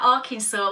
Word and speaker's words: Arkansas: was named after and therefore the S isn't pronounced at the end so yeah Arkansas well I'm okay